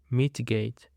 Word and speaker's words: mitigate: Now, for the next word, we have got mitigate. Mitigate. The stress is on the first syllable.